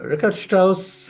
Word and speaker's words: Richard Strauss: too early perhaps uh Richard Strauss in particular I I leave the mic open to you so rard Strauss you know I'm using the German pronunciation because he was born in Munich he was a child